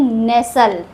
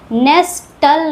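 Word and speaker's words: nestle: For example नेसल इसको हम लोग पढ़ते हैं नेसल। नेस्टल नहीं पढ़ते हैं। एल से पहले आया है टी। इसीलिए टी यहां साइलेंट है। नेसल पढ़ते हैं इसको। इसको पढ़ते हैं रसल।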